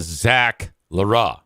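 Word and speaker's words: Zach L'Heureux: The pronunciation guide has it as Zach Leroux.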